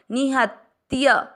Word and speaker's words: निहत्य: पहला चरण नि ह में अ मिक्स करना, निह आधे त के साथ य पूरा त्य, निहत्य।